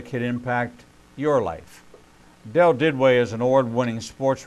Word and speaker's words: Duduit: his new book first down devotions is Dell did way and you pronounce that you spell it d UD UI